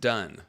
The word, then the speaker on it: Donne: And it's pronounced Dunn, John Dunn.